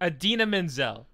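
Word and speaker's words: Idina Menzel: Adina Menzel. I'd have never guessed that's how you pronounce that.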